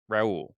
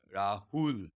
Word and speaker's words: Rahul: uh really happy to have you uh my pronouncing name correct Raul uh yeah the Rahul Rahul is yeah Rahul there we go you're